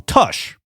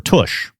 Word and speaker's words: Tush: of ZZ Top's song Tush. Or Toosh. How do you say it? I assume Toosh. Toosh. Like your ass?